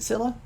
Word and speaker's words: Scylla: Is it Scylla? Okay, yeah, it is Scylla. The C in Scylla is silent.